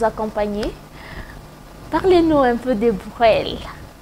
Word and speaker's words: Brel: J'espère que je prononce bien. Bon, on va dire que vous prononcez en anglais. On va prendre ça comme ça, on va accepter. Hein. On va accepter. Mais c'est Brel? C'est Brel.